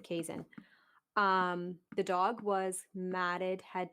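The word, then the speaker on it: Keeshond: A lot of people call them quiche hounds, but you pronounce it Kazan.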